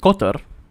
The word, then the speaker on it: Kotar: So with Saint Kotar, and I'm pretty sure that is how you pronounce it, it's Kotar.